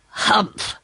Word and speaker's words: humph: said the sand fairy if you read this story aloud please pronounce hump exactly as it is spelt for that's how he said it humph do you know until